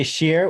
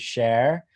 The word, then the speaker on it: Scher: your last name right some people say shear which I love actually like the sound of that better than how most people pronounce it which is share oh man but I